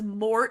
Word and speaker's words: Mort: he was so Random his name is Mort and it rhymes with wart and warts are random